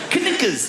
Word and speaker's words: knickers: Why would a K be silent? Knickers, why is it Knuckles?